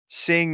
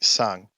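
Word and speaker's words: Tseng: Sing is definitely sung.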